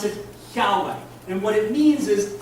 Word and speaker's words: Yahweh: It is Yahweh. That's how it's pronounced. It is L-O-R-D, all capitalized. It's the Hebrew word Yahweh.